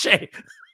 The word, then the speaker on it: Skjei: She goes, "How is SKJEI Shea?" I said, "I don't know. Just trust me, it's Shea."